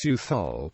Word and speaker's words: Southwell: more affluent residents in most parts of Nottinghamshire southwall is pronounced sual with a soft th h and a silent